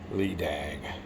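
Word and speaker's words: Leidang: I always look at words and quote my own pronunciation, but it's Lee Dang.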